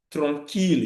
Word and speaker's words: tranquille: Example is ville. You cannot say ville. Mille. You cannot say mille. Tranquille. You cannot say tranquille. So note those exceptions. Ville, mille, tranquille. Those are not pronounced as ye.